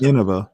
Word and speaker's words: Inova: it's only not, one N versus two N's after the I. That's So right. it's Inova, not.